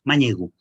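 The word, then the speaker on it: mañego: La pronúncia vendria a ser, perquè sentiu, ho torno a pronunciar, manyego.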